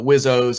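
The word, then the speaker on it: WSO: weapon systems officer or they call it whizzo is the term how you pronounce it and so in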